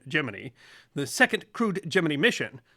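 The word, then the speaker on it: Gemini: 7th 1965 gmany 4 and yes NASA used the pronunciation giny the second crude giny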